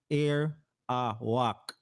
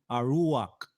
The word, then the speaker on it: Arawak: How do you pronounce the word Arawak? What does it mean? Arak is pronounced air awak. Sometimes you will see it spelled Arawak, like that, or Arahuako. Harahuako. That's another pronunciation, or Aruak instead.